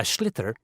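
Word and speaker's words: sliotar: have to get this ball called called a schlitter that's s l i o t a r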